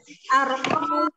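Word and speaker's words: أَرْقَامٌ: Beneran bahasa Arabnya itu apa dibacanya? Arqamun.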